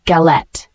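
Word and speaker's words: galette: with various fillings ings the word gallette g a l e t noun is pronounced gallet a flat round cake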